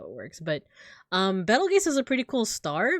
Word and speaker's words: Betelgeuse: So, I pronounce this Betelgeuse, but apparently it's actually pronounced Beetlejuice.